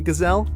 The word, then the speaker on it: gazelle: Try sneaking up on a gazelle, rhymes with LOL.